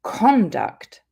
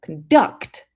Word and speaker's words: conduct: If we take the word conduct, when we stress the first syllable, conduct, we're talking about the noun, which means a synonym of behavior.